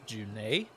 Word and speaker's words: June: convenient or understood oh in the world of thedas june is uh pronounced junai oh interesting all right